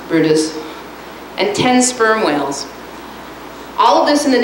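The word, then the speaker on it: Bryde's: was when they first expanded the program 50 brutus whales that's pronounced brutus and 10 sperm whales all of this in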